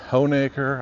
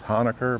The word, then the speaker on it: Honaker: We're in the historic downtown of, as I understand, it's pronounced Honeacre. I thought it was Hanukker, but I was wrong.